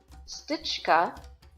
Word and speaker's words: stička: Well, in Czech, if you have a C with this hat check above it, it makes the ch sound. So I said, I wonder if stička is actually pronounced with S-T-I-C with the hat check, K-A.